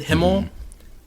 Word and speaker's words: Himmel: How do you know the right pronunciation from hearing them? But I watched it in Japanese, right? So is it Himmel, Eisen, Heiter, Yep.